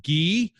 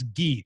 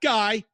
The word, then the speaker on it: Guy: by the name of Guy Courtin. That's Guy, not Guy. That's not how you say it. It's Guy.